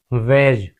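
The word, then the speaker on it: wedge: अगर डी के बाद जी आए तो डी साइलेंट होता है।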